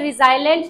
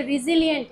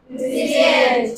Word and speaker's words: resilient: ये रिजाइलेंट नहीं है बच्चे, कुछ बच्चे ऐसे होते हैं इसको रिजाइलेंट बोलते हैं, ये रिजिलियंट है। क्या है? resilient.